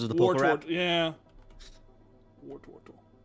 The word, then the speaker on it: Wartortle: Does anybody else pronounce Wartortle because of the Poke Rap? Yeah. Wartortle.